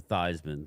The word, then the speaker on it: Theismann: Absolutely is Thiesman, and they changed it to Theismann. You know, To because, rhyme with Heisman.